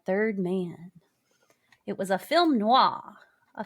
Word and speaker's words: film noir: It was a film noir. A film noir.